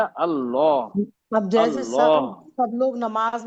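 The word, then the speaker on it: الله: तासीर है वर्ड में अगर हम सही प्रोनाउंस करेंगे तो अल्लाह नहीं है बेटा अल्लाह अब जैसे सब लोग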